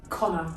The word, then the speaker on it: Conchubhar: Conchubar. It is pronounced Connor.